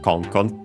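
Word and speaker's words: コン: fox, the yelp cry, should be accented on the first syllable, and it is Kon.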